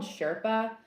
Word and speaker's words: SRPA: to be trying this fall is it's called Sherpa and it's a community for creators I don't